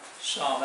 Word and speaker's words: psalm: उसी तरीके से ये साम है, पी एस ए एल एम, ये पी साइलेंट हो जाएगा और आपका उच्चारण होगा शाम, एल भी साइलेंट हो जाता है।